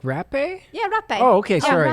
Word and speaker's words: rapé: Yeah, Some people in the West call it hape because if you write it down, it's like rape, right? So they pronounce it hape in the West, but actually it's also rapé.